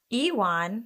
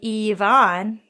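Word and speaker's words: Iwan: this man's name and I think it's Euan, which is what I was Oh originally Well, there's like that's the like bastardized Americanized version. Yeah. There's like a Welsh version that there's no way I'm going to be able to pronounce. Let me see. Ewan. That's how I read it. Hang on. There's also Eon. I guess let's go with Ewan.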